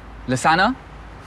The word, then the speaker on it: Lassna: Lassna? It rhymes with lasagna.